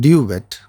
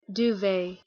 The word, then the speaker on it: duvet: It is not duet, but Duvet.